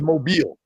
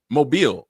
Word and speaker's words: Mobile: So she's from where they think it's Mobile. Mobile. Oh, okay. Okay. We've been mispron I've been mispronouncing it for years.